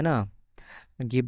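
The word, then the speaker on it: нога: মতন উচ্চারণ হবে তো নো গা আর উচ্চারণ ইংরেজিতে আমরা এ বলি কিন্তু রাশিয়ান ভাষায় এটার উচ্চারণ আ হবে তো নো গা নোগা মানে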